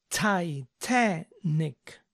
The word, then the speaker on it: Titanic: de algunas películas famosas Titanic en inglés se dice neck Titanic Titanic recuerden pronunciar bien las tes que sean Sonoras para que suene correcto Titanic Avatar se dice avar